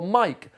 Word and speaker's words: mic: Muck or mic. Muck as in mud. Muck is 37. Microphone, just the abbreviation of M-I-C. Oh, and it's a hard C. Mic as in microphone. Oh, mic is 37.